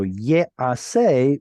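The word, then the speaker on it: יֵעָשֶׂה: We would expect this to be an E-A, so it sounds like a nifal, and the noon of nifal in that first root letter. But gutturals don't take dagesh, so instead it turns this into a longer vowel, much like what happened over here. You can't take a dagesh, you lengthen the preceding vowel.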